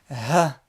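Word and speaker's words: ح: Le N, le point il va être en haut. Na, nou, ni, m. Le Ha, également une lettre qui se prononce dans la gorge, d'accord, au fond de la gorge.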